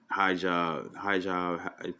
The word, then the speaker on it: hijab: She's Arabian, hijab.